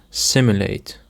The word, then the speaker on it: simulate: The stress on the first syllable, simulate.